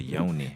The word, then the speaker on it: yoni: So does this stuff like with Yanni? Is that what Yanni is? Is that Well- what this the Yanni steam? I've heard of the The yoni. It's Yoni. yoni. Yanni. I'm saying it wrong.